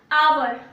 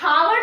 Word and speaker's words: hour: एच है, ठीक है, बट यहाँ हावर नहीं बोला जाता है, आवर होता है क्योंकि एच जो है वो साइलेंट कर दिया जाता है, ठीक है, मिटा नहीं दिया जाता है, साइलेंट किया जाता है। वो मैं इसलिए बताई ताकि क्लियर हो जाए, साइलेंट कर दिया जाता है इसको, ठीक है, मतलब बोला ही नहीं जाता, आवर होता है वो।